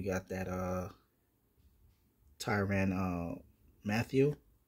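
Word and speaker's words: Mathieu: that uh Tyran uh Matthew Matthew that's how you say it you got mares Brown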